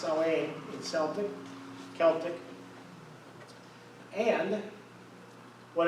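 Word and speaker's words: Samhain: heritage the celtics this was the salway s-a-m-h-a-i-n pronounced celane in celtic celtic and what it meant was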